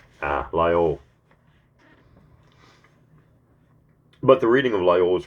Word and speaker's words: Lyell: But the reading of, how do I pronounce that name? Lyell.